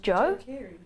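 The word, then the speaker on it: Djo: But the new, oh, she'd like D-Joe. Is that how you say it? Joe. Really? It's just Joe? But why is there a D there?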